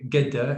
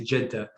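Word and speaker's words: Jeddah: I mean, yeah, the difference between hearing someone from Egypt say "gedda" and hearing someone from Saudi say "jedda," it's like, okay, well, that's not jiddan, jiddan.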